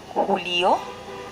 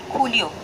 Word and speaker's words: julio: Then July, julio, julio. Again the same thing. Spelling started with kota. And we know in Spanish, kota will always pronounce as ka. So, it's Julio. It's not Julio.